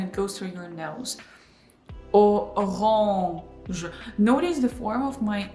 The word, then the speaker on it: orange: And we pronounce je sound voiced after we pronounced the nasal sound. Otherwise, it's gonna sound like this, orange. You'll hear this O sound, which is not supposed to happen.